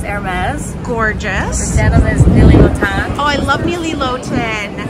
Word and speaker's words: Nili Lotan: The denim is Nili Lotan. Oh, I love Nili Lotan. Is that how you say it? Yes, Nili Lotan.